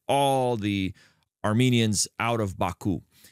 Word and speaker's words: Baku: It's called Baku. Did I pronounce that right? That's right. Yeah, Baku.